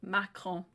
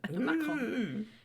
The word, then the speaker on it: Macron: Macron. Right, okay. Not even going to try. That's how you say it with a French accent. Macron.